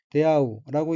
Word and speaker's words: 出会う: 다음 한자는 한국어로 이지조이고 일본어로는 이노스케라고 읽으며 이노스케 또 등장인물 중에 한 사람입니다. 다음 어휘는 한자가 출회이고 일본어로는 데아우라고 읽으며 데아우는 우연히 만나다 마주치다 상봉하다라는 뜻의 자동사입니다.